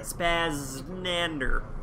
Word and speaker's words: SpazZznander: the title suggests this is the road to spaznander that's how you pronounce that spazz nander it kind of rolls off your tongue a